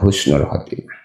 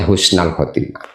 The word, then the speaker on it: husnal khotimah: Saya minta kepadamu ya Allah husnal khotimah, minta husnul khotimah. Jadi bacanya husnal khotimah.